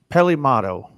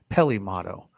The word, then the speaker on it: Peli Motto: here Ralph's got us Pele motto and I think it's pronounced a little different Peli Peli motto yep that's her dope